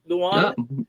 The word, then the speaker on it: Leung: Is that the right pronunciation, Michael? Leung?